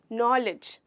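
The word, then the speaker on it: knowledge: नॉलेज में जो D letter है हमारा वो साइलेंट होता है।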